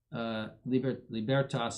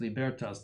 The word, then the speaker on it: libertas: Libertas, and that's pronounced libertas, not libertas. Libertas in Latin.